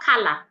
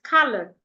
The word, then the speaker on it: color: It's not color. It's color. L. The sure color.